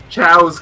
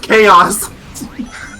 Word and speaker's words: chaos: mentioned it that's not this is why i have to keep correcting you when you say ciaos because it's literally just chaos you know what i'm